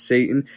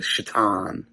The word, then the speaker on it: Shaitan: She says Satan. He says it's actually Shaitan.